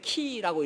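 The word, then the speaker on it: Χ: 근데 엑스라는 말이 그 헬라어로 엑스라는 말은 그 읽을 때 키라고 읽거든요.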